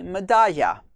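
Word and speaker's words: Medalla: is this um that the double l is pronounced in the argentinian pronunciation or south american pronunciation medasha just like porscho and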